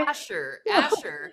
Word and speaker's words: Ascher: Asher. No, Asher. no, it's Asher. Some people say Archer, and it really ticks me off, because it's not an R, it's an S, my friend. It's an Okay. Asher, For not me, I'm the Chinese.